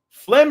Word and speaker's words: phlegm: Phlegm is spelled P-H-L-E-G-M.